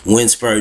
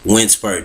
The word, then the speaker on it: Winsbert: Lucia, so different name, Winsper John. Let me spell that for y'all on the Facebook.